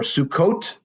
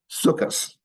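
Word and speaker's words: סוכות: Or Sukkot, another holiday in the fall, becomes Sukkos.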